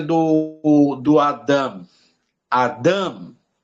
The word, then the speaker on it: Adam: a pronúncia do do Adam Adam Ou seja você vai enfatizar muito a primeira vogal Adam Por quê você